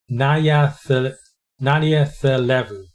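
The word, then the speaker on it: Nayacalevu: So it's Nadia Thelevu is the way I think it was written out.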